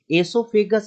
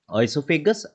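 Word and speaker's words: oesophagus: एसोफेगस और कहीं कहीं आप पढ़ते होंगे ओइसोफेगस. एक्चुअली ये अमेरिकन एंड इंग्लिश प्रोनाउंसिएशन का हेरफेर है. ओइसोफेगस अमेरिकन है और एसोफेगस जो है वो ब्रिटिश है.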